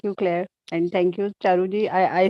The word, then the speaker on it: Charu: And thank you, Charuji. I said Charuji. So I thought you, so I pronounced, I think, wrongly.